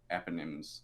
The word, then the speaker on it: eponym: two sons, Manasseh and Ephraim, were adopted by Jacob, and they became the tribal eponyms. Eponyms? How do you pronounce that, Scott?